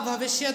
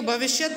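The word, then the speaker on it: भविष्यत्: भविष्य काल कहते हैं आप भविष्य को भविष्य भी पढ़ते हैं कुछ जगहों पर और लिखा भी जाता भविष्य ठीक है तो भविष्यत काल होता है इसका सही जो उच्चारण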